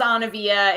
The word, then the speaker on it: Anna-Vija: And pronounce. I know Anna-Vija is long and hard. Yeah. My name is Anna-Vija.